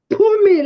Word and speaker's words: Phumi: We pronounce it in South Africa as Phumi, like pa, pa, pa, oh, like Phumi.